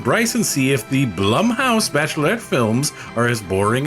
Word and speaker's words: Blumhouse: What do you mean Bloomhouse? Don't you mean Blumhouse? It is pronounced blum house.